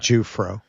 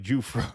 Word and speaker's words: Giuffre: Um pronounced tip giu equals Jew. So ju pronounced chip. Juay. All right, thank you. Maybe for the next one. Like Juro. Like Ju Fro. Yeah, like Juro.